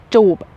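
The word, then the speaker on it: จูบ: JOOP. JOOP. JOOP. Okay. Actually, some people shorten it and make it more like fun, as in JOOP. JOOP. JOOP. Okay. So there's JOOP and there's JOOP.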